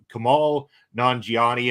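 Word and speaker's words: Kumail Nanjiani: Let's start with I'm going to pronounce this wrong. Kamal Nanjiani, I believe is how it's pronounced. You got it Yeah, perfectly you got it right.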